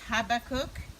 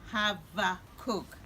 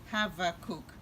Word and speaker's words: Habakkuk: name of this prophet because I've heard it pronounced in different ways some says Habbakuk and that's the way I've always pronounced it some say no is Habbakuk you know and I went on this other